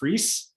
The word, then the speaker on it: Freas: So just so everyone knows for future reference, his last name is pronounced Freas, rhymes with lease, and he earned a